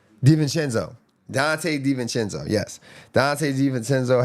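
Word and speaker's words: DiVincenzo: How you pronounce his last name again? Dvenenzo.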